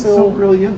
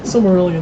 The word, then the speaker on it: Silmarillion: The video game depiction of how do you pronounce it? It's Silmarillion. Silmarillion, there you go.